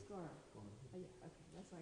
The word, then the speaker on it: Gaura: No, the second time you said like Guru and it's Gaura.